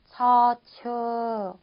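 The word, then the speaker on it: ฌ เฌอ: 으와 어의 중간 발음이라고 생각해 주시면 돼요.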